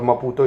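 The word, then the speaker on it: Maputo: और मपुतो इसकी राजधानी है।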